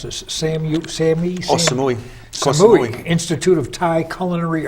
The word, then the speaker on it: Samui: How do you pronounce this? Samui.